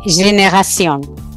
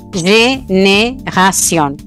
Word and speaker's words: génération: Por ejemplo, la palabra, yo acá tengo génération, que es generación. El francés tiene las dos E son acentuadas, génération. Pero bueno, para nuestro oído no nos importa porque cae en la última sílaba.